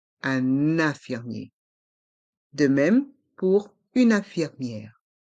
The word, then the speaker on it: infirmière: de même pour une infirmière on fait la Lison avec le N de une et le I de 1 le E est mué une infirmière et les lettres I e r font le son y est un infirmier et dans une infirmière les lettres I e accent grave r e faut le son hier une infirmière un infirmier une